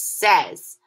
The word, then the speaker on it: says: And our next trick word is says. Notice how it's spelled very similarly, but it's pronounced differently.